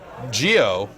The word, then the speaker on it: Gio: Gio couldn't take the heat emanating from the video James character. It's a soft G.